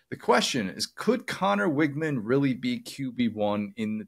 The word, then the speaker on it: Weigman: They still pronounce it Weigman, like the grocery store Wegmans, instead of what it actually is, which is Weigman.